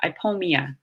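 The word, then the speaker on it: Ipomoea: a soft J there Oh II is usually pronounced pronounced E so I pull Mia a sweet potato vine that's how you would say that I pull Mia so it's kind of a strange vowel combination that we don't often see that you might question how to pronounce so it's usually pronounced e B is pronounced very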